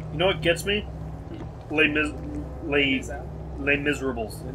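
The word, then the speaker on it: Les Misérables: Les Miserables. No, Les Miserables. It's set in French.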